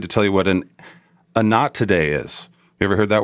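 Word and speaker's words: Anatidae: a fear of geese and it's and it's pronounced a not today like uh not today uh not today so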